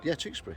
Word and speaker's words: Tewkesbury: Tewkesbury.